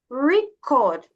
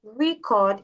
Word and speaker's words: record: Now record is a noun is to show you that if you say record it's it means that you're talking about the noun. Now in the second part if you say record it means you're talking about the verb.